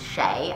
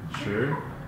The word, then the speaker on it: Sheh: So the Americanized version is Sheh. I just say Sheh. I don't know why that's the way you say it. It's just the way it's said. Sounds very Irish. Yeah. I'm not Irish. But the Chinese pronunciation is, you gonna try it? Okay. What is it? Sure. Sure? Yeah. Is it just sure? It's, you gotta say it like a question.